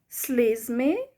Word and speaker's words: слізьми: Слізьми, слізьми. So the stress is on the E, the first E, or the second E.